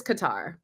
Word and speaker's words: Qatar: guitar next week yes is it cutter qar or Cutter I call it Qatar let's let's figure I don't like cutter but then don't take pronunciation for me I am not the one saying things on this podcast the correct way I feel like I've gone it's oh it is qar okay I feel like